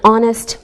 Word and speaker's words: honest: Same with an honest man. We don't pronounce the H.